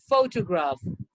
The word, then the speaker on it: photograph: of the syllables so here we have to say photo photo on the first one in the second here photograph photograph photograph so that's what your